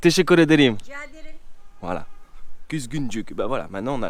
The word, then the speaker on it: Kuzguncuk: Kuzguncuk or Kuzguncuk? He, Kuzguncuk. Kuzguncuk. Ok, Kuzguncuk. Teşekkür ederim. Rica ederim. Voilà. Kuzguncuk.